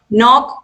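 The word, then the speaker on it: knock: नॉक मतलब खटखटाना, और यहाँ पर के जो है वो साइलेंट है।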